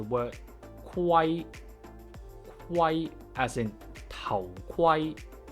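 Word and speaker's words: 頭盔: Kwai, Kwai as in Tao Kwai, Tao Kwai, helmet. To properly pronounce the KW sound is actually just like the GW sound, with the difference being we only vocalize after we release the airflow.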